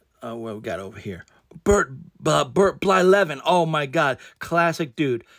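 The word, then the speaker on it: Blyleven: His name is Bert Blylevin. But when I was a kid and I got his baseball card, I would just call him Bert Byvelin. Because I couldn't pronounce it.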